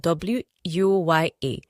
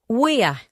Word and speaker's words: wuya: Let's now look at W-U-Y-A. W-U-Y-A is pronounced in two ways. First pronunciation is wuya, your neck as part of your body. Wuya. Another pronunciation is wuya, which is difficulty and hard.